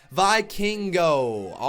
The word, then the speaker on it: Vikingo: I finally heard his name pronunciation. Vikingo.